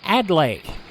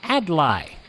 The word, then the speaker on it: Adlai: Philologists sweat and lexiconists bray, but the best they can do is call him Adlai.